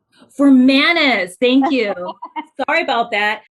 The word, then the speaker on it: Formanes: for being here hey oh quick correction my last name is for manage for manas thank you sorry about